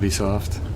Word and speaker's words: Ubisoft: to tell you Ubisoft we're apparently saying it wrong it would be soft apparently it's a be soft this what ciccone they're